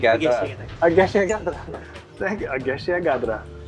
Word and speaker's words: Egészségedre: Egészségedre. Ageshia Yes. All right. Egészségedre.